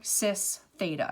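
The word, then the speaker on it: cis θ: you can write out this it's called our sis theta and that's how it's pronounced okay it means the same thing as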